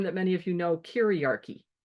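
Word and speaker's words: kyriarchy: many of you know karchy k y r i a r c y karchy kind of rhymes with patriarchy to show the close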